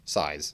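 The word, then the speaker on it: PSY·S: super close close next size that's how we pronounce it but it's sigh like psychology and then S size they're Japanese band the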